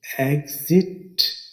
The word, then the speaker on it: exit: तेजी से पढ़ने में एग्जिट, एग्जिट। फिर बताते चलें, आपने AGZIT वाली स्पेलिंग याद नहीं करने, ये सिर्फ आपको आवाज़ समझाने के लिए इस्तेमाल किए हैं। जो स्पेलिंग आपने याद रखने हैं वो है EXIT, एग्जिट, यानी बाहर जाने का रास्ता, इखराज।